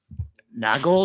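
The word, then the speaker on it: Nagle: Nagel. Nagel. How do you pronounce that?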